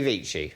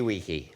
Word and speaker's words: vici: Veni, vidi, vici. Oh. Or Veni, vidi, wiki. Yes. Depending on how you pronounce it.